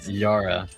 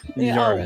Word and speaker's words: Yara: His name is Sarah with a Y. Um. Yes. Actually, starts with a Y. Yara. Yara.